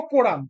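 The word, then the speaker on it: quorum: কোম মানে কোরাম বানানটা ভুল আছে। ঠিক করে নিও। কোরাম মানে কিউ ইউ ও আর ইউ এম হবে এটা কোরাম মানে নূন্যতম যত যতজন প্রেজেন্ট থাকলে তবে হাউস চলতে পারে।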